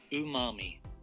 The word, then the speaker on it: umami: I was pronouncing Amami correctly this is the pronunciation ooh mommy who mommy there we go so umami is